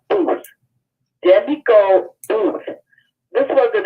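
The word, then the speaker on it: Boothe: B-O-O-T-H-E. Like boot, and then H-E at the end.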